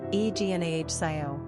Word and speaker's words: Ignacio: Number of syllables, 3. Ranking popularity, 952. Pronunciation, Ignahcio.